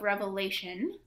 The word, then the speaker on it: Revelation: Our second reading for the second Sunday of Easter is from the book of Revelation. No S, not plural.